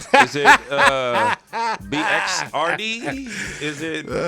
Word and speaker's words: Bxrd: it's not about me baxter is it uh bxrd is it the x is silent yeah the x is silent and that's like that's one thing they call me bird before i started rapping